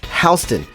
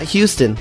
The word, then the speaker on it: Houston: and remember it's pronounced hon not Houston like the city in Texas take the F train